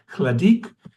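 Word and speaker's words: Hladík: His name is Jaromir Hladek. The story begins with a dream, and eventually when Hladek is in his, or some people pronounce it Hladik, when he is in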